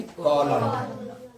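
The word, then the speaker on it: column: ठीक है, एम एन आएगी तो एन नहीं पढ़ना है। ठीक है, तो क्या हो जाएगी, कॉलम, हेम, ऑटम, डैम।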